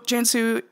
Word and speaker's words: Cansu: at the podcast title spelling your name with a C. And I'm saying Cansu, I'm sure you get this all the time. I am pronouncing it correctly. The C sounds like a J.